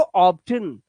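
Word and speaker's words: obtain: वो इसे पढ़ते हैं ऐसे ऑब्टेन। लेकिन ये गलत है। क्या करना है आपको? ऑब्टेन।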